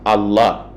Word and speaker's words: Allah: Ce Hamza a été supprimé uniquement dans le but d'alléger la prononciation. Et lorsqu'on a supprimé ce Hamza, Al-Ilah est devenu, n'est-ce pas, Allah.